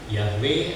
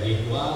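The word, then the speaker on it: Yahweh: nama Tuhan itu tertulis Ya seperti ini ya dibacanya adalah yahwe ada yang membaca yehwa ada yang menaca Yehova ada ya jeahova dan lain-lain eh ada film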